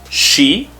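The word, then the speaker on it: し: section so it's sa s with the i has a special sound and that is she saw she then we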